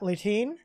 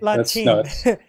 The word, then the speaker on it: Lahteine: And tonight we are graced with the wonderful presence of Scott Lahteine. And I said it wrong, didn't I? Lahteine. Close enough. Lahteine. I always screwed up. Let's shine. No, Lahteine.